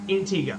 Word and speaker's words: Antigua: intega and Barbuda yeah because there's Antigua which is they don't pronounce it you yeah intega got it got it okay